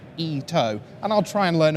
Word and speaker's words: Ito: Now, Koei Ito, and thanks very much to my friend Devin on Twitter, who's been correcting my Japanese pronunciation. It is apparently Ito, and I'll try and learn a few more as we go.